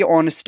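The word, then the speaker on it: honest: कि यहाँ पे ये ऑनेस्ट है। ठीक है, यहाँ पे ये जो हमारा है ये वर्ड ये ऑनेस्ट है, और यहाँ पे एच हमारा साइलेंट है तो ओ की साउंड आ रही है, और ओ हमारा वावल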